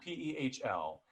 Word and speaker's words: Pehl: And so it specifically says in the trivia that your last name is pronounced Pehl. Which I remember thinking, I don't think that's trivia. I think that's how you say your name. But it's spelled P-E-H-L.